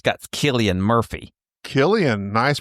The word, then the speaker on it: Cillian: Killian, nice pronunciation.